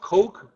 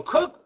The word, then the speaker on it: Coke: um also uh cook although the word looks like it's pronounced coke uh that's c k but it's pronounced C so cook Blackstone and hail were